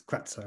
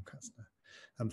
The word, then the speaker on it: Kratzer: It's Kratzer, I think, rather than Kratzner.